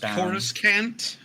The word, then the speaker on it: Coruscant: We've all seen We've all seen your on Coruscant. No, we've all seen how well I'm sorry, it's pronounced Coruscant.